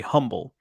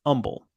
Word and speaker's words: Humble: is that people who don't know would say humble but it's pronounced humble um so that's that's certainly one uh there's